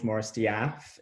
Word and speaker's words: Morris De'Ath: my name is george moristiaff it's spelled as death but it's not actually pronounced as that funnily enough a lot